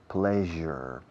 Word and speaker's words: pleasure: I've never felt so much pleasure. Fijaos en la pronunciación. Pleasure. Je suis. En francés, je suis, je, ese je, que es una SH inglesa vibrada con las cuerdas vocales en acción.